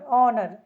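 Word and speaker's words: honour: हो गई honesty honesty यहां लिखा है हनर ऑनर एच ओ एन ओ यू र इसमें देखिए यहां पर एच साइलेंट है ठीक है ऑनर तो ओ को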